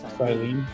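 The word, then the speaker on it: Cyllene: How are we pronouncing that again? Silene.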